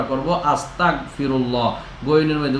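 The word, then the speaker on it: أستغفر الله: যাবে না আস্তাগফিরুল্লাহ হামজা জবর তাইন জবর তা আস্তাগফিরুল্লাহ এইযেটা আমরা বাংলাতে গ বলি গ্যা যেটাকে আমরা বলি সরাইয়া স আপনার দন্ত স আস্তা ততা গ আস্তাগ ঠিক আছে এভাবে আমরা উচ্চারণটা করব আস্তাগফিরুল্লাহ গনের মধ্যে উচ্চারণটা ধরে রাখা আপনারা যদি ধরেও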